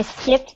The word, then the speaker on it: skipped: I skipped the final exam because I am sick. Good. Make sure to pronounce that final t sound.